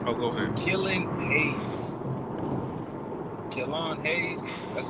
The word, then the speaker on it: Killian Hayes: Killon Hayes.